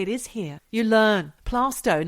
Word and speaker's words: Plaistow: Plaistow, not Plaistow.